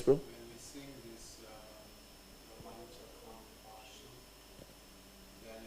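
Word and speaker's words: रोमाञ्च: Romancha. This is romancha. Sometimes I have seen this, they will say romanya. Or, they will not pronounce this C. This ch. It's there. So you have to say romancha.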